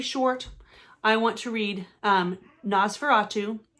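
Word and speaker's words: NOS4A2: i want to read nosferatu which that's how i'm pronouncing it but it's literally the letters of a um license plate but it's another joe hill book and i'm thinking people call it nosferatu um don't know anything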